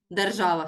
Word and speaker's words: держава: це слово є іменником держава сама не народжується держава не розмножується не харчується відповідно істота нежива питання що дивимось будь ласка слово держава наголос на е на А бачите наголос трішки збився наголос на А скільки складів три